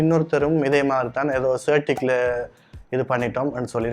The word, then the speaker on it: CertiK: ஸோ இதோட உண்மையான பேர் வந்துக்கு CertiK. அவங்களுக்கு ஒஃபிஷியலாக CertiKக்கு ஒஃபிஷியலாக ஒரு யூடியூப் சேனல் இருக்குது, அதில் கூட நீங்கள் போயிட்டு செக் பண்ணி பார்க்கலாம். அங்கே கூட அவங்க அதை ப்ரொனவுன்ஸ் பண்ணுவாங்க CertiK அப்படின்னு சொல்லி.